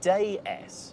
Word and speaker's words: déesse: DS is actually a pun, because in French that's pronounced déesse, which is the French word for goddess.